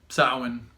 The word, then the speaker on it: Samhain: Patrick J year but cosmic Alchemist and happy soin so you've probably seen this word Salman and writing before but in phonetic English it's Samhain but saman you know incidentally is the pronunciation and sowhen is a Gaelic it's a Celtic word a